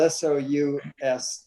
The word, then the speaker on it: sous: Yeah, and it's spelled S-O-U-S. That's sous.